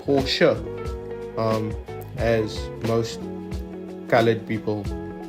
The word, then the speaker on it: Porsche: Um, also it's not pronounced Porsche apparently. It's pronounced Porsche.